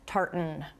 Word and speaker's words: tartan: okay bear with me but it's tartan wait wait wait wait wait what you have to swallow the n a little bit to say tartan